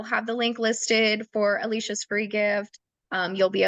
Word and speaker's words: Alycia: course you can find Alicia on Instagram um Alicia fit so it's Alicia it's just my name